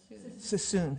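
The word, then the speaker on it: Suisun: I can never say it correctly sus cissoon.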